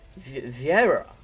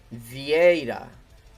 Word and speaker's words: Vieira: It's like Vieira, but it's Vieira.